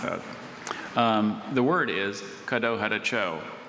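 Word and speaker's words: Kadohadacho: So I mispronounced that. The word is Caddo Hadacho. Caddo Hadacho. Caddo Hadacho.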